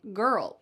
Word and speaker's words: girl: Well, since you've said curl, now you can also say girl. We're just going to change the first sound. Girl. This is going to have two syllables again.